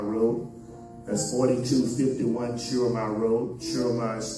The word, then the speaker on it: Schurmier: Schurmier is spelled S-C-H-U-R-M-I-E-R, Schurmier Road, Houston, Texas.